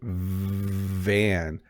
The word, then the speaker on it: van: You can hear when I say van, there's like a vibrating sound. As I said, vibrating, you heard it as well. Whereas with fan, it's more of just the sound of air.